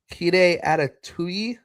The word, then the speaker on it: Kita Adetuyi: give that one more try. Kita Adetuyi. That's per Sox prospects pronunciation, so that's what we're rolling with.